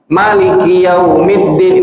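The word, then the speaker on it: مَلِكِ يَوْمِ الدِّينِ: Langsung Maliki Yaumiddin. Maknya enggak panjang, mimnya enggak panjang. Maliki Yaumiddin ini 141 huruf.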